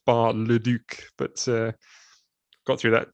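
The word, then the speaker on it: Bar-le-Duc: that because it it it looks like it should say ba de luch not bar le duke but uh got through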